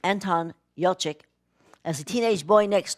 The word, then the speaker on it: Anton Yelchin: Colin Farrell, it's got, I think his name is pronounced Anton Yelchin, as a teenage boy next door.